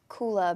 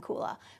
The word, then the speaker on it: kula: unique name what does kula mean am i pronouncing that correctly Oh Kayla kula is a Sanskrit word so language of the yoga and we have that